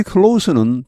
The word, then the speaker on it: close: 여기 close는 닫다라는 말에서 이 갭을 격차를 없애다 이렇게 보시면 되겠습니다. 여기는 동사죠. 이게 형용사나 명사가 되면 발음이 close입니다. 무성음이죠. 이게 동사가 되면 close 이렇게 해서 유성음이 됩니다.